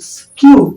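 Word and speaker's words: skew: स श मतलब दिखाना एस के ई डब्लू स्क्यू स्क्यू मतलब होता है टेढ़ टेढ़ मेड़ जैसे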